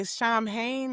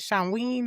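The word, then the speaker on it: Samhain: It's we mostly say Shamhane or Shamine, but it's with a W the way they pronounce it. Shamween or something like that.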